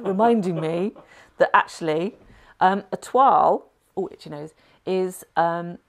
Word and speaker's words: toile: Oh, see, here's my little voice in the background there, reminding me that actually, a toile, oh, itchy nose, is a French word. It's spelled T-O-I-L-E, like toil, if you see what I mean.